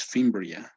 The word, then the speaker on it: fimbria: you you're doing great it's fimbria as if the the e didn't exist okay fimbria anything else